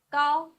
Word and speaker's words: 高: 高 g ao with first tongue, 凹高 g ao 高 Please repeat.